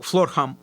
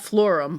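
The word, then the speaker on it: Florham: Columbus FL florum is am I saying it right florum or floral flam FL par yeah flam Park not floram flam Park maybe florum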